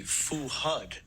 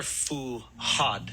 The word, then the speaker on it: Fuhad: name an American way tell me how you pronounce it here I I think it would be fuhad no they're fuad fuhad fuhad fuhad and how what do